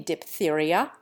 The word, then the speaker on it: diphtheria: We change the F sound to plain P in diphtheria, diphthong, and naphtha.